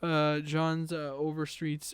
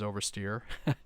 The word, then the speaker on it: Overstreet: So this is using more of John's Overstreet's and I said it right, Overstreet versus Oversteer.